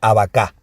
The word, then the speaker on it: abacá: Abacá, con acento en la A última.